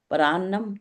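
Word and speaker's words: परान्नम्: Plus अन्नम नहीं होता, पर प्लस अन्नम, परम मीन्स होता है दूसरा, तो दूसरे के अन्न को, इसको आप इसका लोग शुद्ध अपने अपने उच्चारण कैसे करेंगे? शुद्ध उच्चारण परान्नम।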